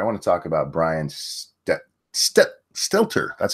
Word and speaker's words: Stelter: But before we get there, I want to talk about Brian Stelter.